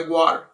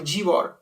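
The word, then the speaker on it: Gwar: me find shows by guar or g-war based on how you pronounce it skills that handle fictional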